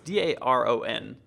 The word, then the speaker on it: Daron: It's Daron, which is spelled Darren.